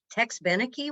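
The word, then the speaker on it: Tex Beneke: call my dad and go how do you pronounce his name it's tex benecke what is this so um i worked at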